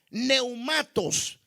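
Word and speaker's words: πνεύματος: Ahora, por otro lado, la palabra llenos del Espíritu se traduce como pleretes o plerotes, o se pronuncia neumatos, donde plerote significa ser lleno y neumato se refiere al Espíritu.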